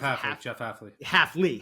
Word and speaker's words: Hafley: I always say his name wrong. Jeff Hafley.